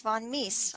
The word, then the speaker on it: von Mises: And okay, that's pronounced von Mises.